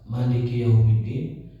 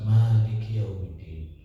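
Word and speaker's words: مالك يوم الدين: Saat kita membaca Maliki Yaumiddin, ada dua cara bacanya, bisa Maliki Yaumiddin, bisa Maliki Yaumiddin. Di Indonesia rata-rata bacanya Maliki Yaumiddin. Di Arab rata-rata bacanya Maliki Yaumiddin, karena suka disambung dengan ayat sebelumnya, Ar-Rahmanir Rahim Maliki Yaumiddin. Di kita rata-rata mimnya panjang.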